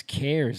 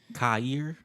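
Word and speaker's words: CAIR: It's Care. Okay. It's care. Um I know that stands for something about Islamic Islam. Cir. Cer. No, care. It's pronounced care.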